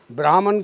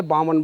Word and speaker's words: ब्राह्मण: ब्राह्मण की जगह बामन बोलते हैं।